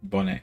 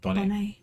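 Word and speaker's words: Bonet: married to lisa bonnet we don't pronounce the t bonnet i said bonnie we all know who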